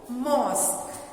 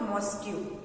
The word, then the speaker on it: mosque: आप अक्सर स्पेलिंग जानते हैं, लेकिन उसका प्रोनाउंसिएशन आप गलत करते हैं. क्या है वो? मॉस्क. इट is called मॉस्क. MOSQUE. इट is called मॉस्क. जिससे कि आप अक्सर मॉस्क्यू पढ़ते हैं. इट इज नॉट मॉस्क्यू, इट इज मॉस्क.